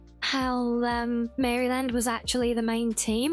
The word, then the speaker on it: Maryland: You say it like the name Mary and then land. Yeah, that's how I was saying it, but apparently that was wrong.